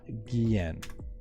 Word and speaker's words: Guillen: supporting a multitude of unique and challenging it's gehen that's the that's how you spell it g-u-i-l-l-e-n check out our tweeter at left-left